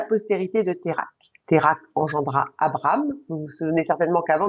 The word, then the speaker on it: Abram: Térak engendra Abram. Vous vous souvenez certainement qu'avant de s'appeler Abraham, il s'appelait Abram, en 2 syllabes.